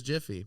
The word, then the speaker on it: Jif: Jiffy? It's Jif.